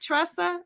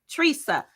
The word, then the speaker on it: Teresa: Did I say it right? Tressa? Is it Tressa? Am I saying it right? Teresa? Teresa. Teresa.